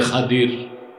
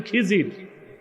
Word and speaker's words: খাদির: বান্দা তার নাম হযরতে খাদির। যারে আপনারা বলেন খিজির। উচ্চারণটা হচ্ছে খদির। উচ্চারণ কি? আপনারা ভুল বলেন খিজির কথা বুঝতেছেন?